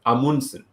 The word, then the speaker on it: Amundsen: So apparently like the right way to say it is Amundsen.